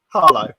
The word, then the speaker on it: Harlow: If you're fruit salads, you're probably from Arlo. Well, probably from where? Arlo. Harlow or Arlo? Arlo. Harlow, right, okay. Yeah, Arlo. You didn't pronounce your H's.